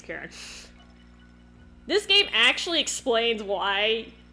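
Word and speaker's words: Karin: It's spelled with an I, but her name is Karen.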